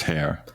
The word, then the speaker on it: Hare: I think it's pronounced Hare, right? Hare, yes, like the animal.